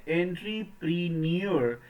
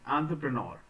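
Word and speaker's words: entrepreneur: के साथ साथ एंटरप्रेन्योर तो कई बार इसे हम प्रोनाउंस करते हैं एंट्री प्रनर लेकिन प्रोनंसिएशन एंट प्रनर प्रनर ऐसे अंत्रप्रेनोर सो एंटरप्रेन्योर हम स्पेलिंग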